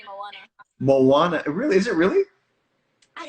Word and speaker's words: Moana: Here in Brazil, I don't know why, but it's hard for them to say Moana. Really? Is it really? I don't know why. In Portuguese, That's interesting. The accent goes like Moana.